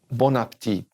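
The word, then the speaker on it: bon appétit: a lot in France Bon Appetit Bon Appetit don't say the T at the end but now notice there's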